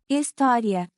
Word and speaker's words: História: The word story is História. História. It's like history, but the H isn't pronounced.